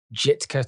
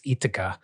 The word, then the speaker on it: Jitka: So I've kind of think I've learned that possibly the pronunciation is a silent J, so it's Jitka.